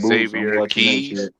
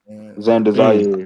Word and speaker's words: Xander Zayas: What is Boots Innocent fighting some dude named Xavier Keys. Xander Zayas. I think, yeah, Xander Zayas. I said his name wrong.